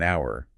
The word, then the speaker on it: hour: Right, like we wouldn't say an hour, we say an hour because of that vowel sound at the beginning. Even though it's spelled with an H, it sounds like it starts with the vowel.